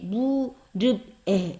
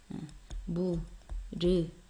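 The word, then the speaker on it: 무릎에: 낙타의 무릅에. 이렇게 안 읽죠? 어떻게? 그치? 무르패.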